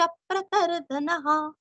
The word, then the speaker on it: प्रतर्दनः: का उच्चारण लोहिताक्ष प्रतरदनः जैसे जनार्दन वैसे यहाँ पे प्रतरदन और विसर्ग का ह